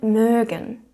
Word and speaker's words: mögen: 그 다음에 누구누구를 좋아한다 라고 할 때는 mögen 동사를 써서 jemanden mögen. umlaut 발음에 주의해 주셔야겠죠? mögen.